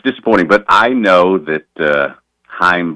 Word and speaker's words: Chaim: And, it's disappointing, but I know that Chaim Bloom, and I've learned that C is silent over the past year